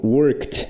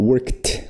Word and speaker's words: worked: Então, esse aqui vai ter sonzinho de T no final, ó. Worked, worked, worked, worked.